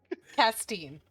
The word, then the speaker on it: Castine: Yeah. Steen. Castine. Yeah. There you go. Castine. Like with that cast.